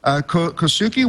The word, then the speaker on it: Kohsuke: And I'm sorry, I've been mispronouncing your name for almost 3 months now, but it's Kohsuke.